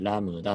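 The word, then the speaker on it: λ: これラムダって読みます。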